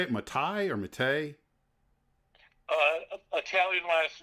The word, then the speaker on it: Mattei: Matai or Mate? Uh Italian last name pronounced Mate.